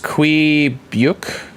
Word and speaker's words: Quebec: It's pronounced Quebec.